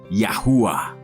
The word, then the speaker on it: Yahuwah: En hebreo moderno se escribe Yod, Ay, Uau, Ay, y se pronuncia como Yahuwah.